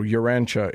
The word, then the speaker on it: Urantia: So Urantia is how it's pronounced.